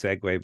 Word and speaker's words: segue: anyway just anyway I know I do use segue but a lot of people uh don't know